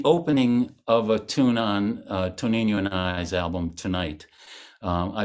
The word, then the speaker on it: Tonino: Tonino. Tonino. Oh, Tonino.